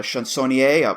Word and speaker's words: chansonnier: A chansonnier, a poet singer who helped. Is that how it's pronounced by any chance? No, you pronounced it well.